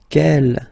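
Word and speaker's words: quel: Kell here feminine singular will become ke with the s fe feminine plural and the good news is that you will pronounce them the same way.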